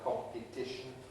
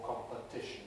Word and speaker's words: competition: But in competition, because of the effect of the ischen suffix, the same syllable is now weak, and so we pronounce it either with I or with a weak vowel, either competition or competition, doesn't matter. And this is really the